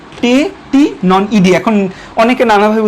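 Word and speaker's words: Tettigoniidae: সো টেটিনন ইডিয়া, idea না, এটার উচ্চারণ ইডিয়া, টেটিনন ইডিয়া।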